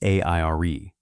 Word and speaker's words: AIRE: Inside the barracks, everyone called it AIRE, pronounced like the word air.